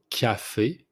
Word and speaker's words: café: First one, the coffee, it's café, café. You pronounce the C like it's a K, so café.